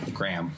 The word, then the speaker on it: graham: we just kind of skate over the name just one syllable gram but we like it's